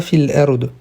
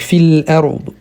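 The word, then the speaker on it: في الأرض: Ici, on prononce bien le dod à la fin, pas fil ard ou d'autres manières. Donc, fil ard.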